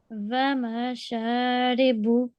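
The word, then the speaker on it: وَمَشَارِبُ: You don't have to prolong on the meme, only on the sheen, okay? Okay. Because there is an alif madda. So, Vamasharibu. Vamasharibu.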